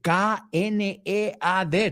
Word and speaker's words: knead: Se escribe K-N-E-A-D. Toma homófono. I need you to knead the dough.